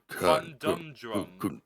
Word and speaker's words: conundrum: It's pronounced conundrum. That there's no D after the con. There isn't? No, it's conundrum. Yeah, probably it. Romanis. For the Who is court, the I think it's conundrum.